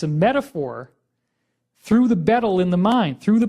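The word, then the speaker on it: baetyl: renamed from omphalos to betel. And it's a little funny because the AE is kind of pronounced E, so it's more like beetle.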